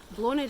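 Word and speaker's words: Bláthnaid: Blonid is spelled B-L-A-T-H-N-A-I-D. I'll write it on the blog. Irish names, mind-blowing. Cannot get my head around them at all. There's nothing logical, unless you know the language, there's nothing logical about the pronunciation of Irish names. So that spelling takes you to a pronunciation of Blonid, which is really hard for me to remember.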